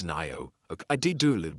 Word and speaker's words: Ngaio: Anyway, at least I got Nio Marsh. I think Nio Marsh, I think. No. It's a Maui name apparently. We The G is silent.